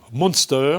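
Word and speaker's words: MNSTR: Alors, l'agence de Brand Content de l'année est une agence bien connue, extrêmement créative, qui s'appelle Monster, mais qui s'écrit M-N-S-T-R. Monster.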